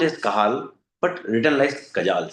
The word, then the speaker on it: Cajal: When I say Cajal, it is pronounced as Cajal but written as Cajal, c a j a l.